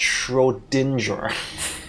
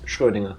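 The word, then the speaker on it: Schrödinger: I would also accept it's not sh Dinger I'll take it but I all know what she say I understand the problem of having to pronounce a word you probably never heard pronounced before and you only know it from reading and it's a different language and that so it's fair I'm just telling you it's shinger or shinger if you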